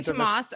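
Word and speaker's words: Toomas: tomas ilves he was oh you say tomas okay tomas elvis who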